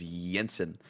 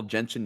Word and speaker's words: Jensen: Because Jenkins is pronounced with a J, whereas Jensen, the J sound makes the Y sound. But it's basically the same name.